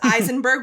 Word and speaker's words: Aisenberg: I have an easily mispronounceable last name because it's Eisenberg with an A. Who would look at the name Aisenberg and think Eisenberg?